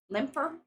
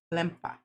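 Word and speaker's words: Lemper: Limper. Limpa. So they they don't pronounce the R so much.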